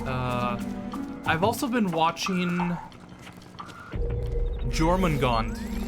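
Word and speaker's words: Jormungand: watching german gone the first time i mentioned it i'm sure somebody cringed at my pronunciation i thought it was because you know i assumed japanese anime gonna have a japanese name no i'm pretty sure that's german or something something equivalent equivalent uh but no that's how they pronounce it in the show dorman gone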